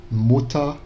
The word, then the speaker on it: Mutter: No alemão mais atual, seria como se fosse um A mais fraco. Então a gente tem Feuer, Feuerfrei, Spieluhr, Mutter. Então esse ER virou Mutter, né, como se fosse um A.